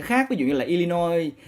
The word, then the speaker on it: Illinois: Ví dụ như là Illinois là một cái bang á, mặc dù ở sau nó có chữ S mà các bạn không được phát âm chữ S.